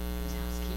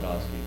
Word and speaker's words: Drozdowski: Drozowski, or is that how you say it? Drozdowski.